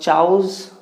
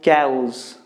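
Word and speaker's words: chaos: Now we have the next word that is called chows. No, you don't have to say like that. You need to pronounce like cows.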